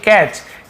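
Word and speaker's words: catch: यहां पर भी देखिए कैच टी साइलेंट है कैच चीनी पढ़ेंगे कैच पढ़ेंगे टी को हम लिखने जरूर है पढ़ने नहीं है तो कैच यानी होता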